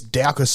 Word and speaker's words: Daukaus: On Sunday, there's a heavyweight UFC fight between Derek Lewis and Chris Daukaus, I think his last name's pronounced.